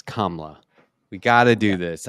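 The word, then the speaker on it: Kamala: to do this oh you're probably still saying kamla Harris's name wrong it's KLA we got to do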